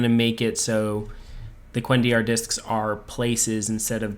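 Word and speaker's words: cuendillar: Yeah, the Kolendor. Or not Kolendor. The Quendiar. Quendiar, thank you.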